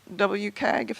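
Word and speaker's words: WCAG: to correct me four point three is mostly WK gif that's the way right way to pronounce it compliant although there were some sort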